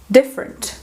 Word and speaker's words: different: A primeira coisa que a gente faz é ver qual que é a sílaba forte dessa palavra, ok? Então, different, different, different. Parece que a sílaba forte é esse D, certo? Different, different. Ok, o rent, você está ouvindo ele melhor, então a sílaba fraca aqui vai ser esse fur, ok? Different. Então, o que vai acontecer aqui de novo? O E vai ser reduzido ao schwa, porque ele se encontra